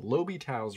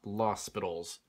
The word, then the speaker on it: L'Hôpital: But now that you know derivatives, limits get a lot easier because of this thing called L'Hôpital's rule. It's spelled L'Hôpital. I don't know, not L'Hospital's, as some people say.